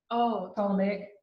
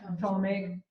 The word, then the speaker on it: Ptolemaic: Ptolemaic dynasty. Yeah, Ptolemaic.